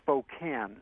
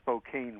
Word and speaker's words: Spokane: Okay, just wanted to say that back in the 70s, I attended Gonzaga University, and it's in Spokane, not Spokane, Washington.